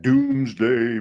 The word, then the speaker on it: Domesday: names are in that Doomsday Book I know it's spelled domesday for some reason it's doomsday that's the way everybody says it that's the way it sounds cool Henry Hudson Fort